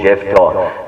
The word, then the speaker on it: Jephthah: The name Jephthah is very unique. Jephthah, pronounced with the F's.